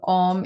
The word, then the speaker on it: Om: And we can use the om sound, not the a, o, but just the one syllable om, in order to connect the space between your heart and your crown.